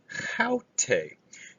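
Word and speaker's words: αὕτη: Haute. Notice the rough breathing mark there. That distinguishes this from autos or aute, the third person personal pronoun feminine.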